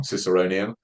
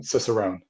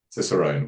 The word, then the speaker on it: Cicerone: I always pronounce this word wrong, Ciceronian, um, Cicerone. Yeah, Cicerone, which I'd love to